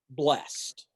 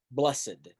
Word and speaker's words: blessed: Let's start with the word blessed, or as we most commonly pronounce it in the context of the Beatitudes, blessed.